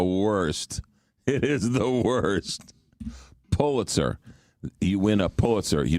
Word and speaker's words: Pulitzer: It's pull, as in pull you in, Pulitzer. But you watch, people say Pulitzer all the time, and it's the worst. It is the worst. Pulitzer.